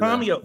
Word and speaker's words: Tomeo: Tomo everybody. Yay. Y guys, did I say it right? Yeah. Tomio is usually Tomio. See, I knew it.